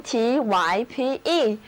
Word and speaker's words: type: 今天首先登场亮相的是词根 TYPE，表示造型的形。其实呢，它也是一个单词，字母 Y 要读作 I， type，意思就是类型或者品种。Cotton is a type of material.